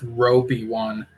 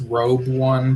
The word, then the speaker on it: Robeone: Looking at it, I thought it was Robe One, but whoever presented this fellow pronounced it as Robeone.